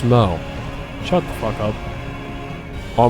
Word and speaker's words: Smough: No, it's not whoa, it's pronounced smo.